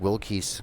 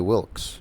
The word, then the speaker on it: Wilkes: by ames dot well i was actually Wilkes well well well well yeah Wilkes like the eid has no pronunciation Wilkes Wilkes mm-hmm Annie Wilkes